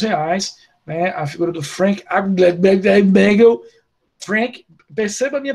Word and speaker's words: Frank Abagnale: A figura do Frank Abagnale, perceba a minha pronúncia, como é uma pronúncia sofisticada, Michele.